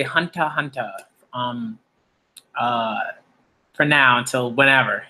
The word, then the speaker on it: Hunter x Hunter: greatness or as people as is it's rightly pronounced hunter hunter alright I might start saying it like that